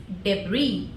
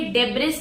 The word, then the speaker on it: debris: तो इसी को हम लोग इंग्लिश में बोलते हैं guys डेबरी। डेबरी this spelling is डी ई बी आर आई एस। बट the pronunciation is डेबरी। डेबरी इसको आप लोगों ने डेबिस नहीं पढ़ना है।